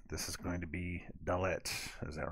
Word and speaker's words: dalet: is going to be dullet is that right did i say that right dalet dalet it's like dalek but dalet dalek is probably a word too um in the in